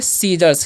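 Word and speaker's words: scissors: इसे पढ़ेंगे सीजर्स। क्या है यहाँ पर, जो सी जो है साइलेंट है, तो इसे हम क्या पढ़ते हैं, सीजर्स पढ़ते हैं, सीजर्स, सीजर्स पढ़ते हैं, ओके।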